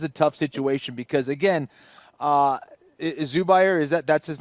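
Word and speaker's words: Zubaira: That is a tough situation because again, Zubair, that's his name. That's how you pronounce.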